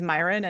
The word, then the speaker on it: Miron: just going to correct the pronunciation of my last name is Myin. And everyone gets it wrong all the time. So I I usually spell it how people sound it to with a Y.